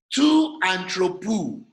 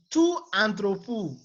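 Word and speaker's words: τοῦ ἀνθρώπου: Tu anthropou. Through to anthropou. Of the man. Of the man. If it is appearing in the genitive. Now you have tu anthropou again.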